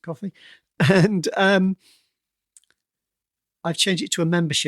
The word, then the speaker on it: Ko-fi: website is that it's ko-fi. They call themselves Ko-fi, I think, but it's supposed to be like coffee, so let's pronounce it coffee.